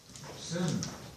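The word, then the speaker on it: san: Now, those of you who have copies of your of the phonetic alphabet, remember that just an A by itself is like a U in sun. So S-A-N, sin, sin.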